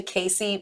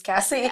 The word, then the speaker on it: Casi: really well so my name gets mispronounced so so often like I answer to Casey more than my real name which is Cassie a lot of people